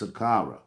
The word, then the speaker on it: Saqqara: is spelled SAH a are aah but it's pronounced Saqqara and this and sakara is now known as